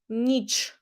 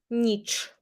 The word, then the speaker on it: ніч: pronunciation, день, вечір, вечір, and Ukrainian ch is hard, ніч, ніч, not ch, but ch, ніч.